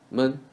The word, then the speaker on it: 们: 们 is men in woman.